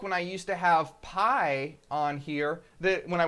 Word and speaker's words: pi: but did you know did you know that pi is actually pronounced P it's true pi is pronounced